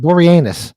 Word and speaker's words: Boreanaz: David Boreanaz.